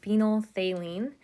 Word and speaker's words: phenolphthalein: And phenolphthalein, that's what this is, that crazy word there. It's pronounced phenolphthalein.